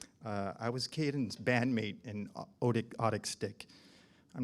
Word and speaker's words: Otic: was Kayden's bandmate in Otic Stick. I'm not actually sure how to pronounce my band's name. John's grandpa came up with it. It's spelled O-T-I-C. I say Otic Stick.